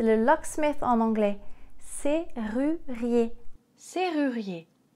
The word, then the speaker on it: serrurier: Serrurier. S, E, R. There's no need to pronounce this as a double R. This is a regular R. Donc c'est un R normal. C'est pas un double R.